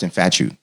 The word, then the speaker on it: Infatué: But first of all, actually, so it's pronounced Infatué. Yep. Not Infatué. No, Infatué. Infatué, okay. But you know I asked that because the E.